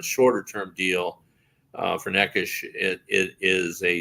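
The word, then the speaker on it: Nečas: ponic for necas uh what how do you pronounce name it is neish okay all right um but anyway uh uh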